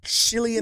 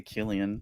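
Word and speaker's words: Cillian: And Chillian Murphy, is that how you pronounce it? Chileian. Silian. I say I say Killian.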